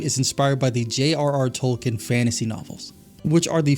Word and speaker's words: Tolkien: It's pronounced Tolken.